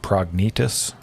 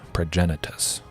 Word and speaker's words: Progenitus: iteration relic of progenitus i thought it was prognatus for the longest time but i'm pretty sure it's pronounced progenitus something like that but yeah yeah no